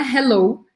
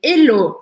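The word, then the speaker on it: allô: que você perceber que não é Hello em inglês é Helô sem pronunciar o h então só para mostrar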